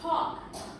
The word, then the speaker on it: talk: Okay, but sometimes it's talk. Talk. It's AL, yeah, but no L. The L sound, you don't pronounce it. Okay, no L, just short O.